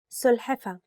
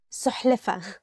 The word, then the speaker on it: سلحفة: سلحفة. Turtle. سلحفة. Turtle. And sometimes people mix it with سحلفة.